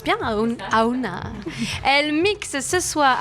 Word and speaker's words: Aohna: Je prononce bien Aouna.